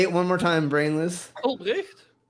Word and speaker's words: Albrecht: Albrecht. Yeah, there you go. That's exactly it. I think over here they'll pronounce it like Ulbrecht.